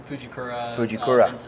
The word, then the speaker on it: Fujikura: How do you say that? Fujikura.